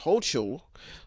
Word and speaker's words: Hochul: Democrat Governor Kathy Hochul, don't want to say that wrong, but that's what they're probably saying, Hochul in the Republican House, because they want her to be pronounced Hochul, told her opponents, this